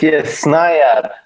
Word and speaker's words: Snaiad: Is that how you pronounce it? Mm-hmm. It's this... Yes, Snaiad.